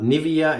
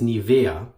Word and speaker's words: Nivea: Nivea Nivea sorry guys the proper German pronunciation of the brand name is not Nivea it's Nivea so I'm gonna try